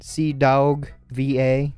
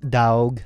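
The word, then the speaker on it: CDawgVA: Their channel names are The Anime Man, C Dog VA. I have to say it like that because it's not like dog, as in like puppies and everything. It's like Daug, that sort of thing.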